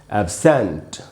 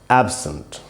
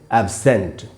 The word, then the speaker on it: absent: यूज़ करेंगे तब इसका उच्चारण बदल जाएगा और उच्चारण हो जाएगा एब्सेंट। जब ये नाउन और प्रेपजीिशन जब ये एडजेक्टिव और प्रेपजीिशन की तरह यूज़ हुआ तो इसका उच्चारण था एब्सेंट।